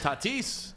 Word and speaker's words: Tatis: Tatis.